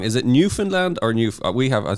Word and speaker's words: Newfoundland: call it New Foundland but it should be New Finland is it correct okay yeah so if if you were to kind of spell it out it is New Found land but